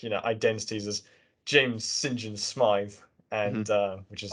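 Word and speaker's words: St John: like they're like you know identities as James Sinjin Smith and uh which is like interesting actually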